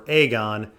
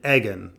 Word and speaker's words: Aegon: I've only heard Aegon and Aegon. The thing is, George actually did do his research here, but it's not that Aegon is pronounced like egg, it's that in Old English, egg also had the ash. So it was more like an ag.